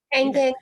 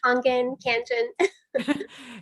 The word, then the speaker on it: Kangen: So therefore the Kangen water, did I say it right, Debbie? Yes. Kangen, Kangen.